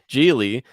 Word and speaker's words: Geely: made in China yes indeed so because uh geely is it geely or Julie I always pronounce agility but okay let's just go with that jili is um the owner of both Volvo and